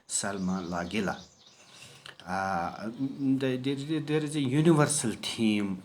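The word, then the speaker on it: Lagerlöf: And so it is a bit difficult for us to pronounce his name. It is just pronounced as Selma Lagela.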